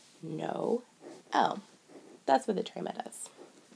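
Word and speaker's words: Noël: french means christmas and instead of pronouncing these two letters together they're going to pronounce them separately no o that's what the drama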